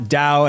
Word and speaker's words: DAO: what a dao is it's not dao as in like what you know like not the stock exchange we're not talking about stocks and we're also not talking about the spiritual uh taoism although it's spelled exactly the same yeah but uh so we're talking about dow's d-a-o which is decentralized autonomous organizations and